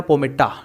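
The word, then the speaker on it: palmata: उसी तरह से दोस्तों स्कॉटलैंड के अंदर एक एल्गी है रोडमेनिया पोमेटा, एल यहाँ पर साइलेंट रहेगा, रोडमेनिया पोमेटा को जो है लोग इस तरह से वहाँ पर खाते हैं।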